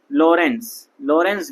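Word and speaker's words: Lorenz: यहाँ पे ये हल्का सा मैंने ये लगाया है ना, लॉरेंज विधि, इसमें टी साइलेंट होता है, तो लॉरेंज विधि कहलाती है।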